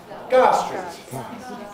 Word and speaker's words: Gower Street: Now, if somebody tells you that, and you don't know about smoothing, you're not going to understand correctly Gower Street out of Gar Street, that people actually say.